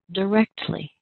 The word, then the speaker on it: directly: First of all, let's identify where the strongest and longest stress is. That's on our second syllable. That's the sound rect.